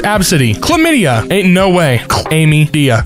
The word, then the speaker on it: ABCDE: absidy ugh gross oh ABCDE pronounced absidy chlamydia Ain't No Way